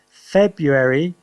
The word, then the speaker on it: February: nobody got that wrong february now february you you don't really say february so the r is difficult to hear in this one yeah uh the american